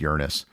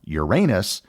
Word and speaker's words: Uranus: of the flyby that the accepted pronunciation of the planet changed from Uranus to Uranus it was mainly because astronomers and television house didn't want to be subject to weeks worth of childish jokes as they reported on